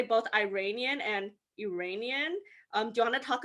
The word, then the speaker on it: Iranian: In the United States, the correct way of saying someone who is from Iran would be Iranian.